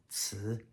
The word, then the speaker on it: ci: Again, second tone, ci.